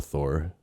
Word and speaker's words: Thor: You got to roll your R there.